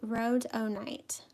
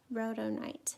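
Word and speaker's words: Rhodonite: said okay so she she said to pronounce this pink here it's called row road Oh night row tonight pink from daniel smith thank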